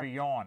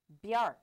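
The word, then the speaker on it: Bjarke: Bjorn, not Bjork. No, Bjark. He's Bjorn? B-J-A-R-K-E. Thank Bjark. you. Well, he couldn't spell it.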